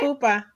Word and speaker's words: pupa: Because it's the chrysalis, like the, how do you say pupa? It's pupa in English, It is right? pupa.